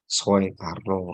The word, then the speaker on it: Soekarno: Terus Soekarno, Soeharto, itu kan oe itu dibacanya u, tapi ditulisnya oe.